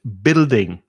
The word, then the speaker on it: building: that's a guidebook and building the u is silent in building it's just b i l d build building these tall